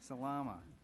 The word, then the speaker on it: Salama: If I could phonetically, Salama.